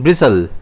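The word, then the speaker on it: bristle: इसे हम प्रोनाउंस कैसे करेंगे? ब्रिसल जिसमें स्ट्रेस जो है वो बी पर रहता है।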